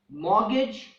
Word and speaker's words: mortgage: Also in the words Christmas, often, mortgage, the letter T is silent.